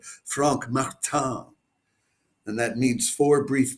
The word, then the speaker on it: Frank Martin: It's Frank Martin's uh Katpur guitar for so that's probably I guess I should pronounce that Frank Martan and that means four